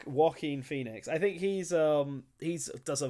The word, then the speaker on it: Joaquin Phoenix: Jacqueline Phoenix, is that it? Joaquin Phoenix. Joaquin Phoenix.